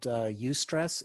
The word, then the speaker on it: eustress: Good stress, it's also called eustress. It's spelled EUSTRESS.